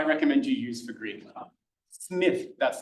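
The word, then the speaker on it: Smyth: Smith. That's not pronounced smile. It's Smith.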